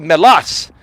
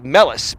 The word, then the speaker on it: Melas: like stamos right like my last name is actually melas but they say melis because that's the american way right so it's thomas